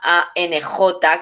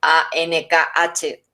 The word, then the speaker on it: Ankh: como realmente se llama ANJ, que es como se escribe, no como otras, lo veréis por ahí, ANKH, es ANJ, Ankh, que quiere decir vida, ni cruz, ni llave, ni nada.